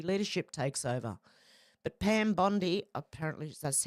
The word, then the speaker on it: Bondi: takes over but Pam Bondi apparently that's how it's pronounced not Bondi like you do in Australia hasn't been confirmed yet